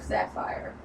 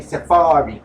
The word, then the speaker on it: Sapharri: I was I was about to call her Sapphire. Nah, that's how it's spelled. It look like like Sapphire. She say Safari. Okay. She say Safari. So, you know, we going we going to go with Safari.